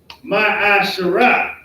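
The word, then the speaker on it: מעשר: It is pronounced ma'asharah.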